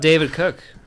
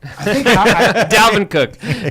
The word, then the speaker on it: Dalvin Cook: what about David Cook? I think that's the best play of the game. Did I say his name right? I think You got it in the vicinity. Dalvin Cook.